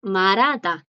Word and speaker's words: 말하다: verbo hablar, que aquí a la J le pasa lo mismo que a chonchoni. Que aquí, delante de esta J, aunque no es un bachim, ¿qué hay? Una consonante. Y hace que la J no suene. Entonces la pronunciación más común es marada.